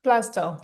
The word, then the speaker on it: Blazdell: I'm with today, who is Blazdell. Did I pronounce that correctly? Blazdell, yeah, Blazdell, yeah.